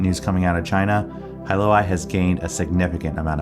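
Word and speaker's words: Hailuo: hey Halo hu huo how do you pronounce h AI hi I would not have expected that hyoi okay all right so now we know so this hyoi AI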